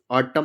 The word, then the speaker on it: autumn: Silent रहेगा। जैसे AUTUMN ऑटम, ऑटम मतलब होता है पतझड़।